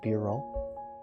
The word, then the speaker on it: B-roll: oh no i said beeru didn't i not bureau i said beeru it's b-roll a b-roll thank you thank you